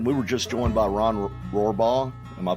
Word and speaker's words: Rohrbaugh: hey so aaron we were just joined by ron rohrbaugh am i pronouncing that right you got it yeah it's